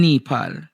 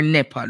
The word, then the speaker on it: Nepal: But I want you to all look in Nepal or Nepal is what the country is pronounced.